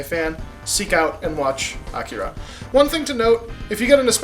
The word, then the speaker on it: Akira: Like, they were mispronouncing names. They actually said, Akira all the time instead of Akira, which is the correct pronunciation.